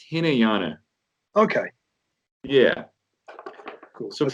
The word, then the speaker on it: Hinayana: Yeah, it's pronounced Hinayana.